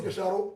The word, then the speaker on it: Gicharu: Let me say it like a Kikuyu. Ambrose Gicharu. Shadow. Here, Gicharu.